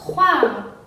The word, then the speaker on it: croire: Después tenemos croire. Croire, porque OI es WA.